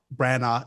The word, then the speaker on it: Branagh: I don't know how to pronounce his last name. Branagh.